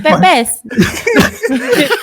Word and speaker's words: pepes: What is pepes?